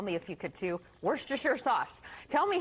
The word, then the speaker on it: Worcestershire: the stuff tell me if you could to werster sure sauce tell me how you say it cuz everyone says it differently I say Worcestershire sauce and I love Lea & Perrins and